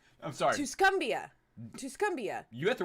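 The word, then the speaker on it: Tuscumbia: point clue this woman was born in West tuscumia I'm sorry tusumbia tusumbia you had the right pronunciation my laugh was unrelated Alabama in 1880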